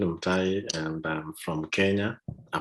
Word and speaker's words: Mtai: work okay yeah so the way i'm saying my name is m thai and i'm from kenya